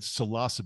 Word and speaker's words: psilocybe: of subspecies of the, I'm glad you said psilocybe because that's also a very commonly mispronounced one.